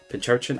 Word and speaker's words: Pincurchin: Pincurchin? I never know how to pronounce it.